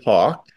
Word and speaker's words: Hauk: my name is Hawk uh it's spelled with a u but pronounced like the bird uh I am a